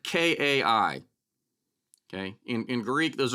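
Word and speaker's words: καί: can probably make out the what looks like k-a-i okay in in Greek those are Greek letters uh but this pronounced Kai it looks like it came I look like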